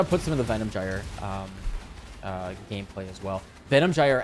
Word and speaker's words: gyre: With the correct pronunciation is not gyre, it's gyre, at least in American English pronunciation.